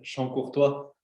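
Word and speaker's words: Chancourtois: Luego, Charcontra, Toño, ¿lo podría pronunciar mejor, por favor? Es Champ-Courtois.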